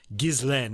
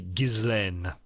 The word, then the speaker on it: Ghislaine: her name is pronounced Ghislaine. It's a French name. I've heard people on the internet mispronouncing it, wondering how it's pronounced. It's a pretty standard French name, and it would be Ghislaine.